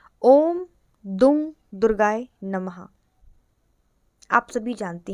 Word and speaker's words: दुं: उनका ओम दुर्गाय नमः अब कुछ लोग इस मंत्र को दुम पढ़ते हैं ओम दुम दुर्गाय नमः लेकिन नहीं इसका जो सही उच्चारण है वह है ओम दंग दुर्गाय नमः जब कोई भी साधक